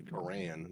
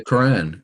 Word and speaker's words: Quran: Quran says is impossible why do you say the Quran that sounds like the most Americanized version to say it well how would you like me to say Quran it sounds like saying Iran correctly the Quran okay but yeah I